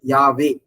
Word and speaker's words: Yahweh: அதனாலதான் இங்க NIV பைபிள்ல வந்து பாத்தீங்கன்னா இந்த V சொல்றது வந்து W சொல்லி ப்ரொனவுன்ஸ் பண்ணுவாங்க ஆக்சுவலா. அதனாலதான் YHWH சொல்லிட்டு. ஓகே, இதுதான் நம்ம என்ன பண்றோம்னா ரெண்டு பபல்ஸ் சேர்க்கிறாங்க ப்ரொனவுன்ஸ் பண்றதுக்காக. இங்க YA சேர்க்கிறாங்க, W அப்புறம் E சேர்க்கிறாங்க. E சேர்த்து யாவே, அப்ப ப்ரொனவுன்ஸ் பண்ண முடியுது, யாவே சொல்லி பேர் வருது.